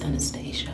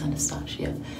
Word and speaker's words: Anastasia: also a good brand and it's anastasia i know i don't think it's anesthesia i think it's anastasia i continue to work